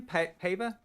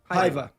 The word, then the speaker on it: Paiva: Pava? Paiva.